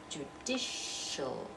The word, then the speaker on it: judicial: that SH sound right judicial and notice looks like an a but it sounds like oh because that's an unstressed syllable but all is not